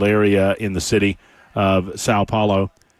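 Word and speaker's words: São Paulo: I may be mispronouncing Sao Paulo. Sao Paulo. Sao? Is it Sao? Sao Paulo, yeah.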